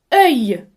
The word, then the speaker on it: œil: Œil. Deuxième mot, mes amis, c'est œil. الكلمة تتكون من مقطعين صوتيين. الأول E se prononce comme le mot heure.